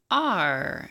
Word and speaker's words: are: star star and then this word is just R I know there's an e it's a weird one it's a silent e are like you are can you repeat hard